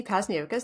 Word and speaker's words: Pazniokas: name is uh pasus that's how you say that crazy last name I always say it rhymes with Hocus Pocus and I I started